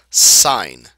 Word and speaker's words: sine: first one is pronounced sign okay it's pronounced like the word SI GN sign all right but we